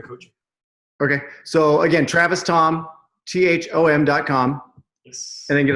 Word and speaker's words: Thom: just go to Travis Tom calm my last name is spelled th om so Travis Tom